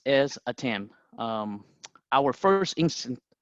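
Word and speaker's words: ATEME: it is pronounced as attempt our first instant our first instinct is to call it like Amy or ATM but it is actually attempt at am was founded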